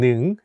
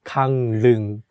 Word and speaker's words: 강릉: And although it has the consonant ㄹ (rieul) which is for “l” sound, when we say it, we change it to “n” sound so it becomes 강릉 (gangneung), not gangleung.